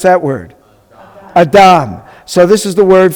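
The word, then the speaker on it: אדם: So how do we pronounce that word? Adam.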